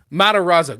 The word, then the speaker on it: Matarazzo: So Gaten, I've never pronounced his name. Matarazzo.